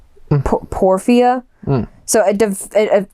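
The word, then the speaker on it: porphyria: they think um I don't know how to pronounce it. P O R P H Y R I A Porfia.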